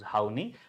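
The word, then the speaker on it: Horney: would like to mention don't pronounce this particular name as it is literally right because uh in India more specifically in English right uh that having a different meaning of it right so how we are pronouncing them. Whenever we pronounce then H O W N E Y this pronunciation we can use Hi.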